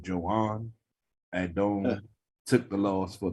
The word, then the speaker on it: Joan: It's spelled Joan like Joan, but he's Spanish, so I guess it's Joan.